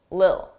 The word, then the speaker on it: little: Native speakers, we don't pronounce T's between 2 vowels. It will be either a very soft D, little, little, dull, or you just won't hear it, lil, a little, a little.